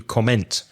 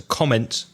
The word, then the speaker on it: comment: verb to comment but you put the stress on the second syllable you said I want to comment put the stress on the first syllable I want to comment on I'd like I'd like